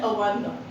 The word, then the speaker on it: avant-garde: Third word is, although it is written as avant-garde, but इसका correct pronunciation है avant-garde. Again इसका मतलब है, again